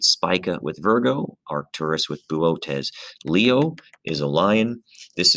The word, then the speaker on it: Boötes: And so for the constellation Boötes, which is, again, is a weird pronunciation, but that's how it's pronounced, Boötes, there is a very bright and very significant star called Arcturus in the constellation Boötes.